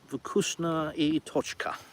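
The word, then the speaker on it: Вкусно и точка: Vukusna I Tochka. Yeah, see, it's spelt for an English person. It starts with a B, which it isn't, obviously. I know it's a V, but, you know, if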